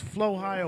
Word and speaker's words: Flohio: The Flow Ohio radio family she did will it be again. in the Flow No, Ohio. it's Flow Ohio, one word.